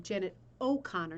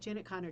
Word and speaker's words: Janet O'Connor: hutchinson adaptation um so i was saying her name wrong janet o'connor not janet connor janet o'connor so this is one